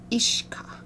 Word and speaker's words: uisge: e at least as it's spelled here is pronounced ishka so I've got the second word in there